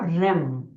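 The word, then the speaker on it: ह्रीं: बड़ी ई की मात्रा लेकिन जब हम इसको प्रोनाउंस करते हैं जब हम इसको बोलते हैं तो दिस वर्ड बिकम रम ठीक है तो वो जो र है आधा रा हम उसको प्रोनाउंस करते तो यू हैव टू से रिम तो खाली रिम की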